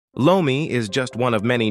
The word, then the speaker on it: lomi: In the Philippines, lore mi is called lomi since the sound r is not phonetically present in the Chinese languages as those in the west will recognize it. Hawkins would have pronounced it as lomi. To the Filipino ear that would have simply sounded as lomi.